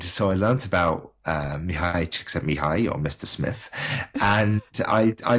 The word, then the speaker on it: Csikszentmihalyi: Csikszentmihalyi, I believe, is the correct pronunciation of The flow bloke.